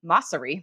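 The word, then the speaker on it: Mosseri: another copycat feature adam moresi or mossery that's actually how you say his name is the head of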